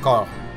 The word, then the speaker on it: coeur: Coeur. Se pronuncia cor.